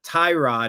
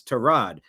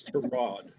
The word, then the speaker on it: Tyrod: Mr. Taylor's mother didn't name him after a car part. It's it's Terrod.